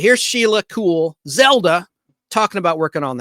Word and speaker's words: Kuehl: the actress's name is Sheila cool spelled with a K KU HL and she played Zelda